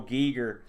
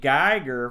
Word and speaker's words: Giger: boat of parks but o Gieger many times we have pronounced his name Geiger for our entire lives I don't know if